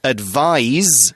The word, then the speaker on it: advise: of sounds like ice advise has got that kind of Z sound although it's spelt with an S advi s e you